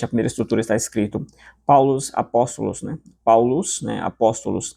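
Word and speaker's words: Παῦλος: A primeira estrutura está escrito Paulos apóstolos, né? Paulos, né? Apóstolos em grego. Você vai pronunciar com esse som, esse som de s no final, né?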